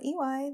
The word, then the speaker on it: Iwai: Soup Day by Iwai, that's me. By the way, my name is pronounced like the letter E and the letter Y.